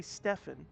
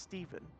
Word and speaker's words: Stephen: I should probably say Stefan, even though it should be pronounced Stephen.